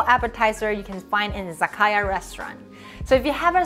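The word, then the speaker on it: 酒: character will change so even though the second character pronounced sake when it combines together it changes sound into zaka and last but not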